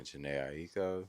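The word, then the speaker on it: Jhené Aiko: Oh, Yeah, Janae Aiko.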